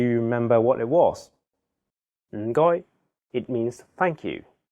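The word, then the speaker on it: 唔該: The first character is in a very low tone, fourth tone. It sounds a bit like when someone is thinking about a plan and they say, Notice that there is no vowel in this syllable, so you have to really stress the sound. And then the second character is in a high flat tone, first tone.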